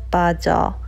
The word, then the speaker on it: 빠: to say purple Okay, when you say purple there's that slight 빠 sound So you say purple